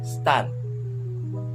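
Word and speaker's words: stān: accusative in gender number, the pronunciation here in the strong masculine word is stan.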